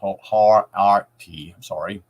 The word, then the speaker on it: Horakhty: The name Horakti, pronounced Har-Arti, thank you, contains the word AKH,